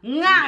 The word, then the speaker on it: nga: It's you say it like this. Nga. Nga. Nga. Nga. Nga. Look at me. Nga. Nga. Nga. Nga. Nga. Nga. Nga. Nga. Nga. Nga. Nga. Nga. Nga. Nga. Like sing. Nga.